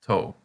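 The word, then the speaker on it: と: It looks like a toe with the nail bent back. Sorry, but now you won't forget that it's pronounced toe.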